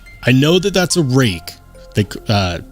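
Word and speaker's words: Rike: know that that's a rake they uh that's how you pronounce it right it's r i k e it's and that they pronounce it rake I don't know the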